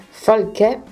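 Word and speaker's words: Falcè: Pescara, tra giocatori del Bologna, poi Kofi, poi Livorno, tra giocatori, Falchè, con l'accento sulla E, e tra giocatori del Varese.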